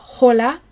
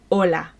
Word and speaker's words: hola: hello in Espanol ES hola now in Spanish if a word begins with hitch pretend it's not there so it's not hola it's hola okay so your turn